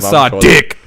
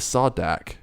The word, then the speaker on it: Sardick: It's not Kazran Sardick. It's just Sardick. Kazran Sardick. Fuck, I thought it was Sardak. Sardick. Sardak. It's like Sardude, but Sardick.